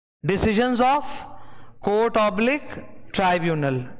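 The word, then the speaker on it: tribunal: ठीक है, decisions of court oblique ट्राइब्यूनल, इसका प्रोनाउंसिएशन ट्रिब्यूनल नहीं है, ट्राइब्यूनल है, क्या है, ट्राइब्यूनल, ओके।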